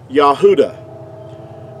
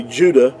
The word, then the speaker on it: Yahudah: you the this like the pronunciation of the word yahudah now that's that's the way that you would pronounce it now in our english we say judah which is totally inaccurate because there's no j sound in ancient hebrew